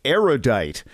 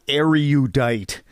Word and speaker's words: erudite: number of erudite people mispronounce erudite which has three syllables not for say erudite not erudite because you are judged